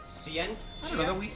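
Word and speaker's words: Scientia: Ciencia. Ciencia.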